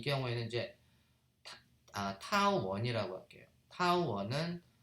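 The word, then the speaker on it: τ: 그러면 이제 그래서 각 운동량의 시간 변화량은 r 크로스 f고, 이때 r 크로스 f를 갖다가 우리가 타우, 읽을 때는 타우라고 읽고 이거를 우리가 이제 토크라고 읽습니다.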